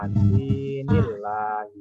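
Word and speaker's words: دين الله: Nomor 6, kalimat dinillahi cara membacanya ialah yang betul itu adalah dinillahi.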